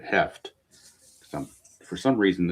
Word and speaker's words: Hoeft: If it's Hoft, let me know, but I'm going to pronounce it Heft.